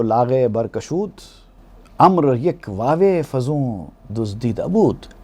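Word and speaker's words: عمرو: ہے، وہ عمر ہے، لیکن عین میم را کے ساتھ اگر واو بھی لکھا جائے تو وہ امر ہے، عمر نہیں ہے۔ تو عمر میں اور امر میں اسپیلنگ میں فرق یہ ہے کہ عمر میں واو نہیں آتا اور امر میں واو بھی آتا ہے لیکن پڑھا نہیں جاتا۔ وہ واو فیصلہ کرتا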